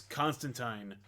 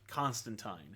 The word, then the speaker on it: Constantine: By the way, he wants you to pronounce it Constantine. Yeah. Because he also does there's a rhyming thing in here. Right. But like, because in England it's pronounced Constantine. Right. We've since Americanized it and it's Constantine.